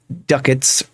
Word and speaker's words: ducats: Yeah, so the ducats rhymes with buckets, says so in the help file.